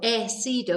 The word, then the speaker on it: he sido: So he sido is actually he, sido, as sido, has. But because we don't pronounce the H, we just miss that out completely.